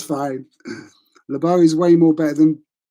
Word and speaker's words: LeBeau: that's a tough name my surname's LeBeau okay Lebo that's how it's pronounced um so at school